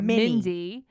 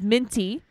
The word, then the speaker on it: Minty: You keep calling her Minnie. Mindy. Right. Or Minnie. Yep. Meanwhile, her name is Minty.